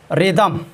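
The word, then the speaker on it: rhythm: Rule number 2, आर या W plus H हो तो वहाँ पर एच साइलेंट होता है।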